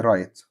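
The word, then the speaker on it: write: الغلاف ريبيبر او ريبر طبعا حرف الدبليو عشان بعديه ار لا ينطق طيب نكمل عندنا في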